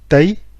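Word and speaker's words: tây: l'ouest et en fait l'ouest en vietnamien se prononcent taille donc pays qui s'écrie t as accent circonflexe y est en chinois ces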